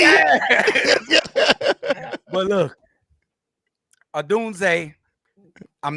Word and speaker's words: Odunze: Pronounce that man's name right. Listen. Odunze. You know, see, you be just talking too fast. I know you know how to say it. But look, Odunze, I'm not mad if he sit out this game.